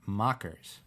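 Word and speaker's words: Maccas: McDonald's restaurant in Australia it's pronounced mockers you guys don't call it that over there no we don't some people call it Mickey D's those people are douches mockers I'm actually I lived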